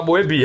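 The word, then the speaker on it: Mœbius: Mas você tem que falar Moebi, aí você lembra, Moebi.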